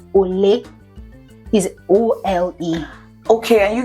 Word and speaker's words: Ole: In Igbo is ole.